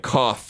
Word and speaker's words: Koch: Sometimes in internal conversations or negotiations, we pronounce it Koch Media, even though it would be more like Koch in German, explained Weber.